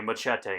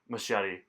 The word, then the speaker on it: Machete: They pronounce it that way in those movies, so I too have to say Machete instead of Machete.